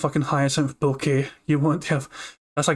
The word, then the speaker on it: Bucket: to heisen from bouquet did he spell it b-u-c-k-e-t oh so it's buckets no no no it's hyacinth bouquet i